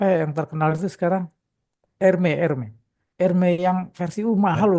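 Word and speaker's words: Hermès: Erme. Ermee. Erme yang versi mahal loh. Tu segini ya? Hermes. Iya. Iya. He kalau bacanya katanya herme itu.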